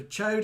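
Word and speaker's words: choad: spelling for chode so chode is spelt c h o a d yes chodes in toad i think yeah um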